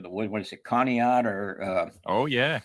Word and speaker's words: Conneaut: What is it, Conneaut or Oh, yeah. Conneaut's big.